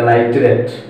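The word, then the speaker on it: nitrate: দেখো এখানে 2, এখানে কি 3, দুইটার মধ্যে এবার যদি একই থাকে যেটা কম থাকবে, এখানে 2 আছে এখানে 3 আছে, সেখানে উচ্চারণ হবে আইট, আর যেটা বেশি থাকবে সেখানে উচ্চারণ হবে এট। তাহলে এটা নাইট্রাইট, এটা নাইট্রেট।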